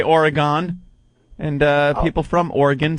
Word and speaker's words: Oregon: Some people say Oregon, and people from Oregon say Oregon. Oregon? Oh, it's Oregon, and we actually have like bumper stickers here that is where it's spelled OrYgun. Spelled phonetically. Pronunciation.